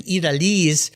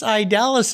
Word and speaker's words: Idaliz: back to my high school spanish and saying italys and i was saying well actually it's idalus is the way most people pronounce it either way it's a beautiful name